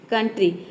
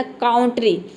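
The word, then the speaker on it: country: बीच में आया है लेकिन हम यहां पे ओ यू को आव नहीं प्रोनाउंस करें अगर हम यहां पे आउ प्रोनाउंस करते तो इसका प्रोनंसिएशन हो जाता कांट्री लेकिन हम इसको काउंटरी नहीं बोलते इसको बोलते हैं कंट्री यहां पे ओ यू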